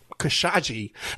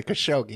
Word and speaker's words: Khashoggi: The whole, and even how they got the entire press to pronounce it Khashoggi. They weren't even pronouncing it the right way, Khashoggi. Everybody knows how to pronounce Khashoggi. We've been talking about this guy since the 80s, and then suddenly they got a whole new pronunciation of the man's name.